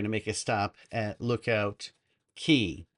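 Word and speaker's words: Lookout Cay: make a stop at Lookout Key. Even though it's spelled CAY, it's Key.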